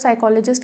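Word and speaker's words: psychologist: साइकोलॉजिस्ट क्या होता है, पी से स्टार्ट हो रहा है ना, बट ये साइलेंट होता है तो साइकोलॉजिस्ट कहते हैं।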